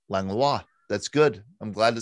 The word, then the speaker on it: Langlois: You say Langlois. Yeah. So Annette's maiden name was Langlois, Langlois is what we would say here in Pittsburgh. But it's French, of course, and in French it's Langlois.